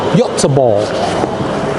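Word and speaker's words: Göteborg: designed in gothenberg Sweden the proper pron pronunciation for gothenberg in Swedish is y ball so it is designed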